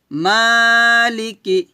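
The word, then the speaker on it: مَالِكِ: যিনি দয়াময় পরম দয়ালু তারপর মালিক মা টান দিবেন মালিক হবে না যখন ইয়া উচ্চারণ করবেন জিহ্বার মধ্যে দোকান অবশ্যই উপরে তালুতে লাগাতে হবে এবং ঠোঁট গোল করতে হবে ইয়াকে ওয়াও কে ধরবে ঠোঁট গোল করতে হবে ইয়া ওয়াও জবর ইয়াও এভাবে মালিকি মালিকি ইয়াও ইয়াও মিদ্দিন আমার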